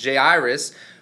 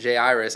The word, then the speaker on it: Jairus: ruler from the synagogue Jairus who I never in my whole life have heard it pronounced Jairus I've always heard it pronounce Jairus so that was a